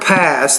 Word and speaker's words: pass: Secondly, when you say the word pass, the P, you need to pronounce that with more air.